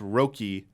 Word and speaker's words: Röki: It's pronounced Röki or Röki.